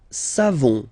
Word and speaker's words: savons: Nous savons. So classic ending for nous, O-N-S. You don't pronounce the final S.